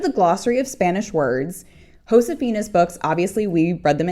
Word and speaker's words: Josefina: Remember that in Spanish J is pronounced like H. That means Hosaphina's name is pronounced Hosaphina.